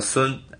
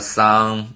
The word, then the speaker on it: Sun: soon right testing soon my last name pronounced like a soon in China Chinese way of the pronounce some people just pronounce like a song I think it's okay yeah so just think